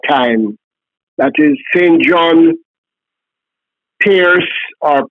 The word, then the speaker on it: Perse: John Pierce or Percy, I'm not sure of the pronunciation. Okay, St. John Piercy pronounced, it says pronounced Pierce.